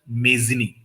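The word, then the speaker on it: Mazzini: तो मेजनी लगता है इंग्लिश में इट विल प्रोनाउंस मेजनी माता जी का सबसे ब बड़ा आदेश मेरे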